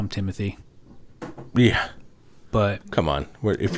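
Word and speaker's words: Timothée: Actually, his name isn't Timothy. It's Timothy. What? Yeah, that's how they pronounce it.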